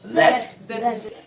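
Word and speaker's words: that: এবার জিভটা সামান্য একটু বের করে দ্যাট উচ্চারণ করো, দ্যাট, এবং জিভটা দাঁতে প্রেসার দিবা না, হালকা করে ছেড়ে দিবা, দ্যাট।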